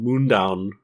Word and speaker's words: Mundaun: where are you playing it uh it's called Moon down that's spelled m u n d a u n